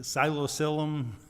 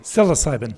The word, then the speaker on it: psilocybin: they say um and and again I'm my pronunciation of the psilocyum. Dennis is the expert. Psilocybin.